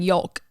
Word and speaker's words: yolk: talking about like eating yolk she said the yellow part of the egg yolk like yolk like she pronounced the owl i'm like girl let